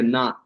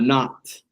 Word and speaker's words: knot: When you have the K and the N the K is silent.